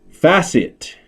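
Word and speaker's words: FASIT: centers and fashion malls facet and it's spelled f-a-s-i-t c financial asset securitization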